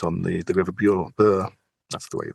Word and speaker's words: Bure: Bure. That's the way you pronounce it.